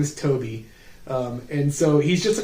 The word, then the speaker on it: Tobe: So, originally in the in the script for Fantasm, he it was spelled T O B Y, but he spelled with an E.